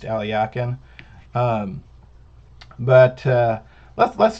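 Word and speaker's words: Alekhine: on uh players like uh um blackburn and alyakin alexander aliakin played it uh spelled more like alakine but it's pronounced alyakin um but uh let's let's take a look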